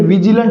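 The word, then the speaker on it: vigilant: तो आज का हमारा वर्ड है साथियों विजिलेंट क्या है? विजिलेंट। तो इसका उच्चारण साथियों इसमें इ की साउंड नहीं आएगी। यह जो हमारा वर्ड है हम क्या बोलते हैं? विजिलेंट बोलते हैं।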